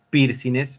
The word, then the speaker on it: piercing: Ah, con G no es piercing, es con N nomás, piercing. No pronunciamos la G.